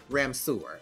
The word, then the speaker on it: Ramseur: quarantine life been in Ramseur? Am I saying it correctly? Ramseur. Yes, you had nailed it right on the head, honey. Yes. Ramseur. Now, sewer if you feel bougie. Ramseur if you're bougie.